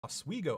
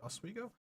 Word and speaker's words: Oswego: I would say Marcin, it's pronounced Oswego. Okay, I think right, Oswego.